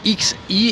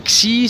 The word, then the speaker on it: Xi: Alors c'est X-I et ça se dit pas Xi, ça se dit pas Zi, ça se dit Xi. C'est un mélange entre chi et si, c'est-à-dire qu'il faut fermer la bouche, coller la langue au palais, pas loin des dents, et laisser passer l'air.